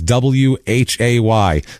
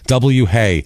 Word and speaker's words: WHAY: Hey, because that W is silent. Yeah, it's a hey.